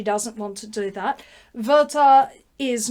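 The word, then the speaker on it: Werther: which translation you read Gerta verta Gerta rhymes with verta that's how you work out how to say the both of them um verta dies a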